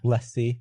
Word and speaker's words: LaCie: The LaCie drive? Yeah, he just designed every Lacy drive for some reason. You say Lacy? I say LaCie as well. Yeah. LaCie.